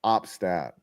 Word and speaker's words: Opstad: opt opt stad opad op stad like opt is in the choice and stad is in the stadium opstad Leif opstad just like